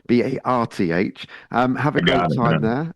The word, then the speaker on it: Bath: I'll pronounce it correctly for you. Bath for you. Barth.